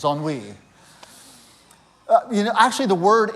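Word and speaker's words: ennui: went to google and said how do you pronounce that and said on we only is how you pronounce that word that's how a yorker pronounces on we you know actually the word is like more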